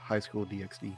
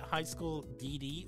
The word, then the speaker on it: High School DxD: But like the X in this regards, when it comes to a Japanese title, it represents like an ampersand that you don't pronounce.